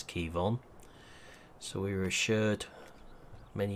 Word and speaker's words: Quivogne: few people be wondering how you pronounce that is Kevon so we were assured